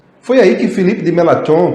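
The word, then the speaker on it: Filipe Melanchthon: e foi aí que felipe dematron que a gente se pronuncia assim que era um fiel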